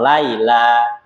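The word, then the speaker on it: ليلى: Kalau nggak pakai alif bengkong, arti bacanya lailun, malam. Nah, kalau nama orang harus pakai alif bengkong, Laila.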